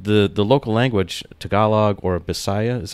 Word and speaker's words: Visayan: Like, they actually learn English in school here, but the local language, Tagalog or Bisaya, is how you say it? Yes, or Visayan. Visayan, specifically, sorry.